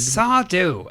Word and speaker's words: Sardou: The set design is credited to Les Garboget, Jean Nolemans, and Sardou, accent on the U.